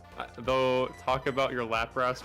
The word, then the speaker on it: Lapras: Talk about your Lapras pronunciation cuz Lapras. It's not Lapras. It's It's Lrass. Lap. It's Lapras.